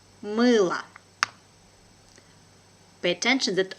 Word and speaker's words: мыло: Мыло. Мыло. Pay attention that letter O here is without accent. So it has a weak position and I pronounce it like A.